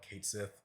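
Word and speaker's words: Cait Sith: name now I know for the longest I've called him cat uh Kate Sith um I think that's like the official name they go by now Kate Sith but I think like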